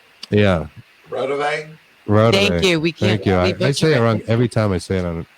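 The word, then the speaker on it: Raudive: Rodive? Yeah. Rodave?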